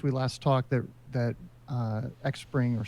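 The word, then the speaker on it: Xpring: last talked there that X Pring or spring as is supposedly pronounced has done is they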